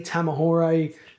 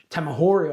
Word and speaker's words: Tamahori: Was Lee Tamahore Tamahori I believe it's pronounced.